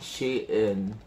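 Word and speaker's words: SHEIN: no sa Shin also that's the pronunciation shiin Okay mahilig ho ako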